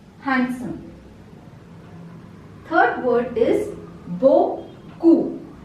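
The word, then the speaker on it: beaucoup: handsome third word is Boku here p is silent Boku Boku means a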